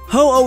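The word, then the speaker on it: 鳳: Ho is basically a combination of every Phoenix legend, most notably the Chinese phoenix, Funhang. In Japan, this bird is literally pronounced ho, so its name was never a mystery.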